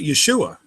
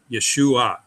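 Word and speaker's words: יְשׁוּעָה: All right, what we have here is YE is yeah, that's an open syllable. Shu, that's an open syllable. Then we have AH. Now that may look like an open syllable. It's actually a closed syllable because there's an I in there.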